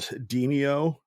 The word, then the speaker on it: Demeo: It's called Demeo, but it's spelled like Demeo, Demeo.